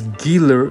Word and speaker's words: Gila: got um do we have more pages wow gilar monster is this a gila monster I think so guys The Gila monsters pronounced as dealer dealer is a large venomous lizard that leaves